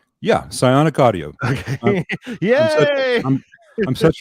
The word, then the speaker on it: Psionic: guys thanks for having me wait did Mark pronounce it right yeah psionic audio okay yeah I'm such a brilliant uh